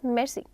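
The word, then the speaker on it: merci: That is मेर्सी. It's very quick. मेर्सी. Many times are का sound लोग prefer करते हैं कि हम ओमिट कर दें. आर is there. वो ओमिटेबल नहीं है बट you have to speak it very quick.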